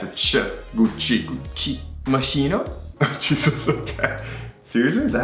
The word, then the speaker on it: Moschino: Moschino? Jesus, okay. Seriously, is that how you... Well, yeah. I've never heard of this one before. CH is? K. K. K. So it's Moschino.